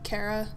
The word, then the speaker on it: Kara: how they I pronounced said it that way because that's what Alice says. Kara.